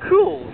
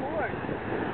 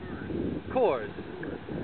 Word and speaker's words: Coors: oh yeah is that cools you're drinking of course cool is that cool is that how you say it Kors ah how do you spell that say again RS oh course I thought all along